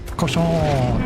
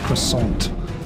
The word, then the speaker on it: croissant: Croissant. Yeah, you got to say it properly, haven't you? You can't say croissant. It's croissant.